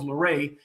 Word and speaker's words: Lauret: And so the T in my name is silent, so that's why it's Lauret.